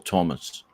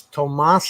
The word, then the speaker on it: Tomas: Tomas or Thomas? It's Tomas.